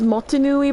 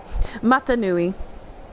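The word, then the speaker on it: Mata Nui: So, Matanoui, that's it. I I pronounced it as Minneui by accident, which is the island from uh Polynesian M. Matanoui.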